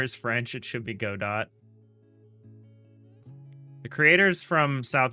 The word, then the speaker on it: Godot: Uh, and they both I think they both say god dot or gdat. They pronounce the t. A lot of people pronounce the t.